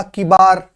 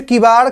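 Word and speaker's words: किवाड़: जैसे किबार लिखा, किबार, तो किबार जो लिखना है इसमें एक उच्चारण भी है, वो अलग ही सुनाई दे रहा है। तो जो किबाड़ का उच्चारण होगा वो किबाड़ होता है, तो इसमें ड़ आता है, ड़ ना कि रे।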